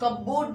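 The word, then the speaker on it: cupboard: अब कबर्ड ने बोलना है। क्या बोलना है? कबर्ड। क्या बोलना है? कबोर्ड। समझ में आ रहा है ना? कपबोर्ड नहीं पढ़ना है।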